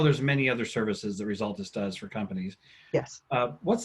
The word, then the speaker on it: Resultist: word result with an IST on the end. Resultus.